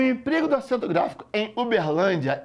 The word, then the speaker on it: Uberlândia: Querido, em se tratando de acentuação gráfica, procure a posição da sílaba tônica. Saber se é oxítona, paroxítona ou proparoxítona. É a banca do CESP. Aí eu tenho aqui, ó, Uberlândia. Aí você fala Uberlândia. Então é o quê? Paroxítona.